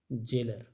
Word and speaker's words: gaol: हम इसको कैसे पढ़ेंगे, ज के सेंस में। इसकी आवाज़, इसकी जो प्रोनाउंसिएशन होगी वो ज से होगी, जी की। तो इसको वर्ड को जो प्रोनाउंस किया जाएगा वो कैसे किया जाएगा, जेलर, ऐसे।